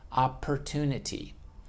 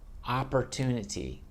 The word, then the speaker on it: opportunity: let it go per opportunity it's actually just pronounced there's only one P even though we write it as - ah / so you close it stop the sound and then boom opportunity that's why they're called